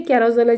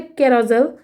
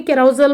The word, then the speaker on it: carousel: ইংলিশে বলে ক্যারোজেল। আমি ইংলিশেও ঠিকভাবে উচ্চারণটা করতে পারি না। কোন কারণে এটাকে আমি ক্যারাজেজাল বলি। কিন্তু ক্যারাজেজালটা একেবারে ভুল উচ্চারণ। কজেজাল বলে। জোসেফ বলে ক্যারাজেল। কিন্তু আমি যখন বলি খুব বিয়র্ড লাগে শুনতে। তবে এইটার বাংলা নাম আমাকে